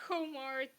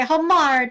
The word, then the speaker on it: Homard: pronounce I'm very sorry homart no homart it's okay homard I keep I keep